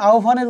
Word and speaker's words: আহ্বান: আহ্বানের উচ্চারণ হবে সরেয়া ও ভয়াকার আহ্বান।